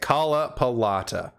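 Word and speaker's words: Kalpalata Lotus: The Kalapalata, that's how you say it, Kalapalata Lotus is, well, I lost my train of thought there.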